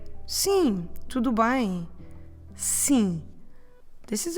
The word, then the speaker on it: sim: And it is again nasal, so you know what you need to do. You need to leave your mouth open in the end, so don't close your lips.